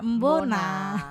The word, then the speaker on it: Mbona: tahu kan e tulisannya Mbok itu kan itu terkesannya seakan-akan mbok Ya kan Padahal mbok ya Ben makanya di situ kita enggak pakai huruf k ataupun tanda koma atas atas ya he biar langsung bacanya mbona Wah usaha Bona Nah